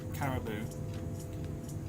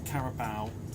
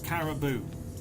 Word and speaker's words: Caribou: tried out the uh car Caribou which is how you pronounce it not carabal or carabal or Caravan or Jamie carer it's Caribou caribou and yes I have tried